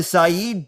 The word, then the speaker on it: Saïd: He's currently a post-doctoral research fellow at the Saïd Business School. That is the way you pronounce it, right, Oğuz?